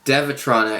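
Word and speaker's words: Dewetron: it was from a company called duotron or devatrona is how it's pronounced but it's spelled duotron so they took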